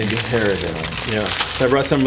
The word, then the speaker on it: Ghirardelli: I'll stick that on there, along with a brought some Girardelli. How do you say this? Ghirardelli. That's how they Okay. say it in France. Come on. There's an H in there. Girardelli. Ghirardelli.